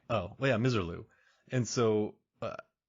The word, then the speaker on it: Misirlou: Dale's uh misirlou and I heard her pronounce miserlu as well I've never heard of pronounced that way oh yeah misirlou and so uh it's